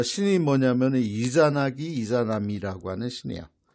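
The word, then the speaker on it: イザナギ: 나왔나 그래요 아니고 어 이진나 씨는 씨의 발음을 일본에서는 이자나기 하게 됩니다 같은 인물이에요 저는 그렇게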